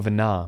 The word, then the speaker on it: Venat: Venat. Their discussion did seem to imply as much, yes. I cannot say I have ever heard of this Venar before. Oh, Venar, my bad. The T is not pronounced.